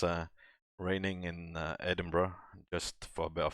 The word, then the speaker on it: Edinburgh: would read it as edinburgh on edinburgh you actually pronounce it as edinburgh so the the the berg is kind of pronounced as a bruh bit of name pronunciation